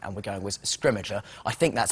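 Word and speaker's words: Scrimgeour: to say his name and we're going with scrimmager I think I think that's how we've ended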